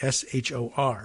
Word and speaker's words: Shor: The country's capital, Chisinau, has been rocked by anti-government protests in recent weeks, largely organized by Moldova's Russia-friendly Shor Party, S-H-O-R, Shor.